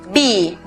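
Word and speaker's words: bee: En este caso, la vocal E cuando está repetida en la misma sílaba se pronuncia I. En este caso, be.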